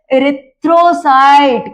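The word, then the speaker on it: erythrocyte: नाम उसका क्या है एरथ्रोसाइट क्या बोलेंगे बच्चों एरथ्रोसाइट या फिर एरिथ्रोसाइट जिसका जैसा प्रोनाउंसिएशन वो वैसा बोलता है।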